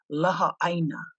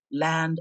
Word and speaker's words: Laha'āina: hence the name La more properly spelled and pronounced as La said almost as two words almost as two words